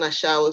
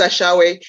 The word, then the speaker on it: ashawo: That Camilla is an ashawo, seriously. And Tina knows what I'm talking about. Most Africans know what I'm talking about. She is, Nigerians pronounce ashawe, Ghanaians ashawo.